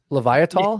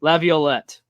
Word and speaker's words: Laviolette: That's the most American pronunciation of all time. You can tell him a little bit got the Canadian French roots there.